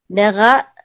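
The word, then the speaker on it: נגע: Nera la nera. Yeah, the deeper you can get the ayin, the better, especially when you're starting. Nera la nera. Yep. But the accent is on ne.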